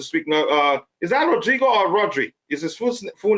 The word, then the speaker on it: Rodri: Roger said to speak now uh is that Rodrigo or Roderick is it full name Rodrigo full name rodri okay okay um right when he played for Spain wasn't it Rodrigo no no no no I'm just asking I